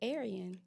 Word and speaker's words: Ariane: But so you say Aryan, too. Say it. Aryan. No, you said it right.